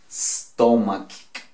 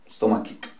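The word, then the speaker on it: stomachache: Vuelvo e insisto en esta pronunciación, ¿cierto? Ese al comienzo no le vamos a colocar, pues, cuando comienza con S, no le vamos a colocar como si tuviéramos una E. Stomach. No. Soplamos, hacemos sonido de S. Stomach. Esto suena acá. ¿Cierto? Más todo esto, que ¿cómo pronuncia? Ick. Entonces decimos stomachic.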